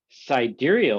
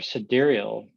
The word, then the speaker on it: sidereal: Sidereal or sidereal, and there's different pronunciations of that.